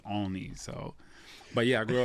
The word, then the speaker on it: Olney: That's how I say it. I don't know how they say it. I say Olney, but they say Olney.